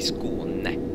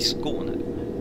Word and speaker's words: Skåne: I Skåne ska jag säga. I Skåne. I Skåne. Måste lägga betoningen rätt.